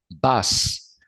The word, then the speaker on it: bus: En la mayoría de las veces la U es una A, pero es una A con la boca cerrada, no es una A de Alejandro. Bus. Bus es autobús. Se escribe bus como en español, pero se pronuncia bus.